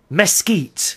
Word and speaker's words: Mesquite: a city in Texas Mesquite the correct pronouncing is mesit thank you very much